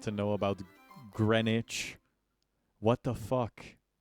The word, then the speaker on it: Greenwich: chat thoughts on the fact that uh this is pronounced Greenwich and not green witch.